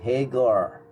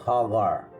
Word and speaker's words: Hagar: Pag sinabi ko kasing Hagar, parang Haggard. Sasabihin ng mga magaling mag-English dyan, hey, it's Hagar, not Hagar.